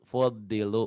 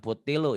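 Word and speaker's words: فضلوا: Fuddilu. Bukan putilu ya. Bukan T tapi D-H-O.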